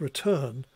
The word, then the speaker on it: return: of the lexical stress so written has a stress and emphasis on the first syllable whereas return has an emphasis or stress on the second syllable and what you've got